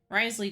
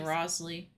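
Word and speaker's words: Wriothesley: I just keep trying to say Rosley. Fine, I'd like to get some tea. Which technically is how it's spelled, but...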